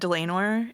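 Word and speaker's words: Dlanor: Um, it's a it's a it's said Delenor and Yeah. So like lame because she's lame.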